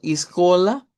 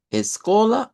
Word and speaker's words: escola: Si lo dice como escola, escola o escola.